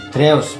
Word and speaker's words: Drewes: Nah, di antara yang berpendapat begitu ada satu sarjana namanya, ya mungkin bisa ditulis atau dicari, misalnya kepingin memperdalam tulisannya itu GWJ Drews, ya bacanya gimana ya, tapi DREWES Drews, itu orang Drews itu orang Belanda.